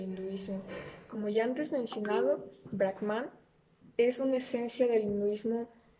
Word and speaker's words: Brahman: como ya antes mencionado brackman es una esencia del mismo parte de la creencia de una deidad del personal conocida como bragman que se pronuncia brackman en simple lancha con